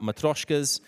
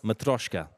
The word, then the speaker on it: matryoshka: guys before the break we were talking about matroyshkas my pronunciation is getting better matryoshka it pretty VIP Lee vetti's hello it's better